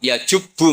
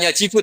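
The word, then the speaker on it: يجبّ: Santri akan tahu ini bacanya yajibu apa yajubbu. Kalau di hadis alislam yajublah mergo maknane y. Jadi ketika ada seorang sahabat lama sekali kafir dulu ketika Islam dia ngeluh, "Ya Rasulullah, setelah saya Islam apa dosa saya zaman jahiliah diampuni?" Terus Nabi ngentikan, "Alislamu yajubbu maqoblah." Itu bacanya bukan yajibu tapi apa?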